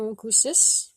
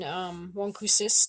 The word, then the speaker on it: wôkwses: We also did mention wôkwses during the lesson for the O sound, the nasal O, as well as molsum, which is another one of our dog friends.